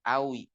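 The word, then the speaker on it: قوي: itu sama dengan eh Awi qwiyun Kyun apa kuat tapi dibacanya Awi Inta gamil Awi ente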